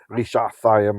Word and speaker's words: רשעתיים: ישראל את כושן רשעתיים, actually רשעתיים I should say, with a more ancient pronunciation because it is a name, שמונה שנים.